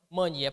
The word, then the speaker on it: mania: mannia é uma oxítona é não Mania paroxítona Cipó Cipó é oxítona mas